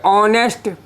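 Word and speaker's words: honest: य कहते हैं कि ऑनेस्ट इसका उच्चारण अ से आ रहा है ऑनेस्ट का मतलब तो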